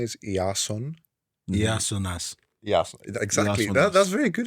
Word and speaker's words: Iason: for the first time so my name is yasas but for those who cannot pronounce that it's Jason or that's well we're going